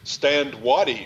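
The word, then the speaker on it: Stand Watie: Stand Waddy, of course, as we, and that's the way I pronounce his name. I've been told we could pronounce it differently.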